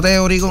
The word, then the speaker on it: Theory: Se pronuncia Teori sin la H, pero se escribe con la H, porque mucha gente lo busca sin la H.